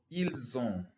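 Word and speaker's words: ils ont: then you also have ill-zone ill the s is silent so ill zone but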